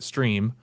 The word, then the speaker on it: STRE: Uh, they also have, uh, begun offering a new one, um, which is STRE, which they they say is pronounced stream.